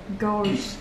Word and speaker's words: ghost: So if you see a GH at the beginning of a word, usually G. If you see GH in the middle of the word or at the end of the word, usually silent, but sometimes F.